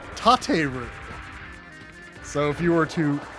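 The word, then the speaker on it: 立てる: But then if you were to stand something up, it would be tateru.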